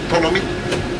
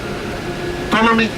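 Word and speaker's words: Ptolemy: Tommy P is silent. Tommy they had ruled Egypt.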